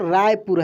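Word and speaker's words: Raipur: पे समझना है, देखिए यहाँ पे लिखा है RAI, जो कि हम लोग यदि स्पेलिंग रूल के अनुसार पढ़ें, जो कि शुरुआत से हम लोग पढ़ते आ रहे हैं, तो राय PUR पुर ऐसे होगा, लेकिन ये गलत है। क्या है? ये गलत होगा।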